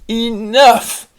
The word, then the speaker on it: enough: won a beautiful trophy now we're going to do the GH that has the F sound and the first one